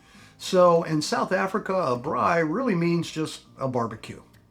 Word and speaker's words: braai: They also asked for an oversized lenai and a bri that's spelled B R A AI.